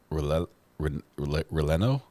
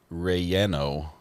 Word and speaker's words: relleno: L is pronounced as a Y, as in yes. So it would be. So chile, it's not chile, but chile relleno super burrito.